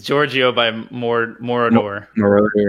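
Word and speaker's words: Moroder: Marauder, yeah. Mordor. It's not the freaking Middle Earth, okay? No, Marauder, yeah. It's like three syllables.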